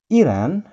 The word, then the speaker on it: Iran: Iran, kalau kita mengucapkan dalam bahasa Inggris, kita sebut Iran. Nah, Iran. Iran. Sedikit ada perpanjangan di sini. Bukan Iran, tapi Iran. Joesin ulangi sekali lagi ya. Iran.